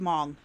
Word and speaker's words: Hmong: who identify as Hmong, according to the 2023 I'm going to estimate. just. The H is silent. It's just Hmong.